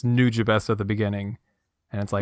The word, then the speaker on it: Nujabes: not the people I've talked to who say new James it's actually pronounced nujabes are you freaking kidding I'm not even I'm